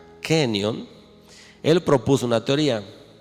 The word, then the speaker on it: Kenyon: Hubo un científico llamado Dean Kenyon, se pronuncia Kenyon.